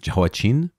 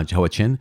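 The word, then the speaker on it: Jehoiachin: heard his name pronounced jawachin with a kind of soft cha uh johachin but joaquin is how i committed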